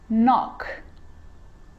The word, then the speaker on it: knock: A K is not pronounced when it comes before an N like knife, no, เคมาหน้า n knee, จะไม่ออกเสียง knock, not, knowledge.